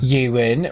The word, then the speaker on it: Euan: Euan rhymes with Ryan.